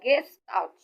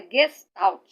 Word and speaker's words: Gestalt: se inscreve se Gestalt mas pronuncia Gestalt porque é alemão tá é uma palavra alemã então é Gestalt e a psicanálise Então